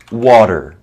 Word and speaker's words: water: In American English, water. Okay, the T is kind of like between a T and a D.